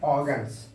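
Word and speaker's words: organs: ऑर्गन ऑर्गन नहीं बोलेंगे आर को क्यों नहीं प्रोनाउंस करेंगे स्लाइटली प्रोनाउंस करेंगे क्यों क्योंकि हम बता चुके हैं कि आर के पहले भवेल है भवेल है तो भवेल के बाद जब आर आता है तो आर को साइलेंट करके प्रोनाउंस करते हैं आप लोगों को हम बता चुके हैं तो क्या पढ़ेंगे इसको प्रोनाउंस क्या करेंगे ऑर्गन्स ऑर्गन नहीं ऑर्गन्स delicate ऑर्गन delicate ऑर्गन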